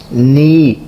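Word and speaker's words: knee: हैं दिल हर्ट कलबुन नी इसमें ये जो के है स्टार्टिंग में जो वर्ड के लिखा हुआ है यह साइलेंट है। हमने इसको एन से स्टार्ट करना है।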